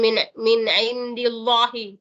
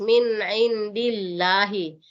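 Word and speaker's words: من عند الله: Jadi bacaannya tipis ya, bukan min indillahi, tebal enggak boleh. Jadi bacanya tipis, min indillahi. Seandainya di sini baris fathah, bisa tebal, indallahi, itu tebal. Kalau indi itu tipis.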